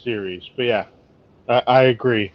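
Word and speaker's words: Ceres: but I think it's if we're talking about the same thing it's pronounced series but yeah I I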